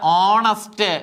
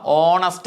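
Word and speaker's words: honest: പരീക്ഷക്ക് ചോദിക്കുന്ന ക്സ്ആണ് അടുത്തത് ഹോണസ്റ്റ് കണ്ടോ ഓയിലാണ് തുടങ്ങുന്നത് നമ്മൾ ഹോണസ്റ്റ് എന്നാണ് ഉച്ചരിക്കുന്നത് ഹോണസ്റ്റ് എന്നാണ് ഹോണസ്റ്റ് എന്ന് ഉച്ചരിക്കുോ ഇല്ല അപ് ഓണസ്റ്റ് എന്നാണ് ഉച്ചരിക്കുന്നത് ഓ ഓ എന്ന് പറയുന്ന അക്ഷരത്തിൽ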